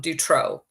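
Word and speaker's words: Dutroux: Mark drro is um his name is spelled MC um d t o ux I believe um Dutro he's the Belgium pedopile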